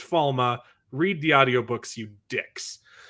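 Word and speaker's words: Falme: Why do they say Falm? It sounds so silly when they say Falm. It's pronounced Falma.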